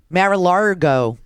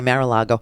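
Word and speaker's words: Mar-a-Lago: a helipad at marala I love to mispronounce it I do mararo okay maril Lago he he got permission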